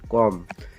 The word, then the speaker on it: comb: यहाँ पे BOMB, यम के बाद में बी आया है तो इसलिए बी का यहाँ पे प्रोनाउंसिएशन नहीं होगा, सिर्फ होगा कॉम।